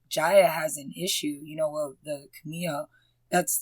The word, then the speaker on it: Kumiho: And also, I love that they touched on the fact that Jaya has an issue, the Kumiho, that's how you say it, right? Kumiho?